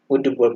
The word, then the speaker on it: would: Raju, Raju वुड, WOULD, वुड पढ़ते हैं इसको, एल को नहीं पढ़ते, प्रोनाउंसिएट नहीं करते हैं इनको। एल लिखते जरूर हैं लेकिन इसको प्रोनाउंसिएट नहीं करते, इसको पढ़ते हैं कैसे, वुड।